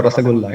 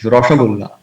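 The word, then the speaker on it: রসগোল্লা: It's not a Rasagulla, it's Rashagulla.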